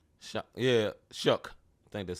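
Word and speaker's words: Shough: say you say his name, show Yeah, Shook.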